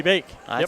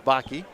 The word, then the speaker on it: Bake: Keely Bake. I pronounced it as Baki.